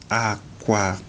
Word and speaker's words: aqua: Aqua. Aqua. Aqua. Now, aqua, the 2 A's have stress marks rising from left to right.